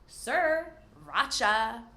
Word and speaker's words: Sriracha: If you like spicy food, you probably love sriracha. So don't worry about pronouncing that first R, just say sir, like hello sir, racha. Sriracha.